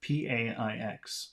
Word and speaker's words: paix: P-A-I-X. Let's hear how he pronounces it.